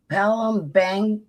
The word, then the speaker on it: Palembang: How do you pronounce that? Palembang I didn't know that, David.